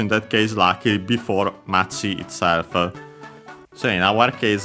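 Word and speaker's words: 町: Yeah, we've seen the term of for town, Machi, accented on the last syllable on its own.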